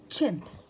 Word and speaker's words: chimp: chimp chimp chimp يعني شمبانزي نوع من القرود. chimp c h i m p chimp chimp. c h ننطقها تشا تشا.